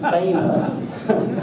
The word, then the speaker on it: Boehner: So evidently it's pronounced Boehner, not Boner.